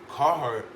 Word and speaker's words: Carhartt: It's pronounced. I think it's Carhartt.